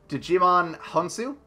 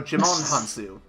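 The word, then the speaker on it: Djimon Hounsou: __ ] name right Digimon Han soo I'm pretty sure that the D is silent so Djimon Honsou yeah okay it's like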